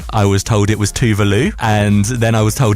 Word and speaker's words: Tove Lo: I do it Tovlo, but I have heard that it's Tuvalu.